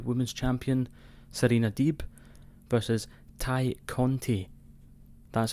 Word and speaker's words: Tay Conti: It's not Tay Conti or Tay Conti or whatever you want to say. It's Ty Conti.